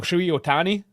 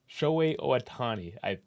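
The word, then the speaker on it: Shohei Ohtani: Shui Otani? I could have this completely wrong. But Otani... Shohei Otani, I think.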